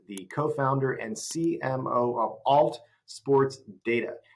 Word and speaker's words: ALT: It's ALT or is it alt? How do you say it? First of all, alt, just short for alternative okay.